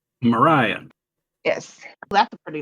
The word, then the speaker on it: Mriya: How do you pronounce her name? Mariah.